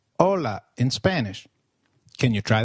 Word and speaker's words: hola: Hi is called hola in Spanish. Can you try that, please? Hola. Did you get that right? hola. Remember, H is always silent in Spanish.